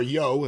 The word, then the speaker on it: Yohe: There were Wally issues, Stevie Yohe's publications, or Yo, as I think it's supposed to be pronounced, and other similar material.